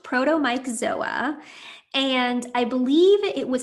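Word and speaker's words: Protomyxzoa: but we have not heard about the co-infection proto-mazoa before which i'm not pronouncing correctly can you tell us more about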